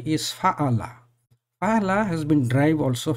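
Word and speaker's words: فاعل: It is a long vowel in alif after the first radical, so the pronunciation will be fa'ala.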